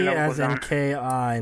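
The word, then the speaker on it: 気: That's because in Japanese you call it ki.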